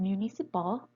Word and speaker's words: municipal: In the word municipal, both the syllables in the penultimate and antepenultimate position are light syllables, so we assign the lexical stress by the trochaic foot.